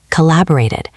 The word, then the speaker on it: collaborated: This applies to created and collaborated. Here you actually do hear the extra syllable. Listen. Created. It sounds like it at the end. Collaborated. So for these words, make sure you pronounce that final beat clearly.